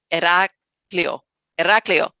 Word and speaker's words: Heraklion: I know I butchered that, Christine. She's looking at me like, you messed up. Heraklion. Correct. Closer? Yes. Good.